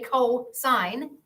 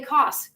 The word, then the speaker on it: cosine: would spell it and you say cosine but it is abbreviated cos again don't say cos it's not cost it's cosine I used to it